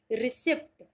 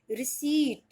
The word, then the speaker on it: receipt: RECEIPT, रिसिप्ट। रिसिप्ट कोई word नहीं होता, पी होता है साइलेंट, और आप इसको बुलाएंगे रिसीट।